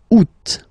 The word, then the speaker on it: août: And then here, two options, because, two options are acceptable in French. The first one, you don't pronounce the final T. Ou. Second one, you pronounce it août.